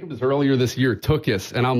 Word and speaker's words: Tuchus: band with you called took us you're the lead singer I I think we'd be awesome and you get some Superstars you got to say it right it's tokis Turkish in concert